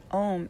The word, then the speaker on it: Om: that liberates and protects om is actually spelled a-u-m and is chanted with three syllables um om is